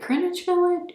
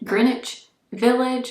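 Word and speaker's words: Greenwich Village: was in grenwich village is it grin village grinich Village I think is how you say it and let me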